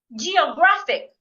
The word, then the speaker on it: Geographic: second syllable as well Geographic Geographic I'm stressing the third syllable here critical critical I am